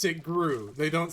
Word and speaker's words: GRU: gr these are guw spsn gr and they pronounce it Gru they don't say G they pronounce it like